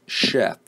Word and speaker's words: chef: word in the example is chef which is spelled c-- h EF and here the CH combination may the sound alright so from this example